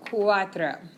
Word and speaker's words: cuatro: You can hear that U and the A, qua, and then tro, T-R-O, cuatro, okay?